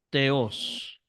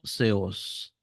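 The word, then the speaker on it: θεός: escribir aquí, seos, seos, o teos, o seos, ¿verdad? O seos. Esa es la pronunciación. La CO, la segunda es la del griego moderno. La primera es la de Erasmo de Rotterdam.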